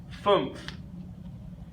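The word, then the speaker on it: fünf: is the number four number five phoom phoom is the number five and this one we have this u here with the two dots the two dots of course are called a blue mouth which we've talked about a little bit already so the you with whom out makes the booze sound booths that's the number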